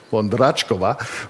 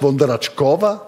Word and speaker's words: Vondráčková: ich wissen wollte, weil es gab zwei Aussprachen Ihres Nachnamens und ich habe immer gedacht, der Akzent auf dem A muss doch bedeuten Vondratschkova. Und deswegen habe ich gedacht, nein, stimmt. Falsch, Vondratschkova? Vondratschkova.